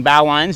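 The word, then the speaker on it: bowline: loading up I'm tying everything in I'm using bow lines just in case you're curious and before you correct my pronunciation again on our not of the week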